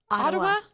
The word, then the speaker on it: Ottawa: little from how do you say is it atawa Ottawa Ottawa see I just I'm telling you you got